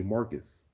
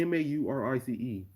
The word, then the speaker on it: Maurice: mispronounce my but my teachers will get my name wrong they'll hear my they'll see my name m-a-u-r-i-c-e and they'll say marcus how how does how do you see m-a-u-r-i-c-e as marcus my tissues